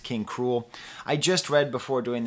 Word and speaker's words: King Krule: King K rool now I think it's actually pronounced King cruel I just read before